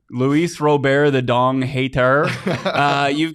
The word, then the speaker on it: Robert: me so mad that his last name is pronounced Robert why is it not Luis Robert it's so dumb change your name Luis robare the dong hater uh you've got and I've